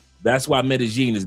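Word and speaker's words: Medellín: Two L's make a G sound. That's why Medigene is not met is not meten.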